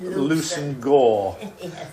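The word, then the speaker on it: Leveson-Gower: Although, if you're an aristocrat, you have to pronounce it Lucen-Gore, because they talk differently in high circles.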